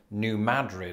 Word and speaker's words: New Madrid: They emphasize the first syllable, as in New Madrid, and this is an example of a shibboleth.